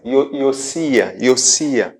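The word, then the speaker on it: יֹאשִׁיָּהוּ: Porque Josias, em hebraico, pronuncia-se Iosia.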